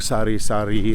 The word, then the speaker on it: sari-sari: It's spelled s a r i d- s a r i not s o r r y. And that's because in Tagalog sari sari is like a variety of things you can buy.